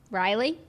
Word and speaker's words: Ryle: name r-y-l-e or isle yeah riley no it's not riley it's rile because character yeah right okay